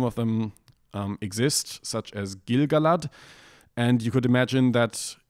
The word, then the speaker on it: Gil-galad: And from the meter there, you can tell that it's supposed to be Gil-galad, and then you have every second syllable stressed. Gil-galad was an elven king.